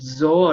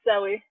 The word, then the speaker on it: Zoey: correctly pronouncing your name is it zoro or all right it's zoey hey zoey zoe okay